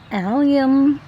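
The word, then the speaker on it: allium: since I don't know so it's pronounced alium culum culum alium culum it's actually alium but I always say alium and I think a lot of other people do too it's of the uh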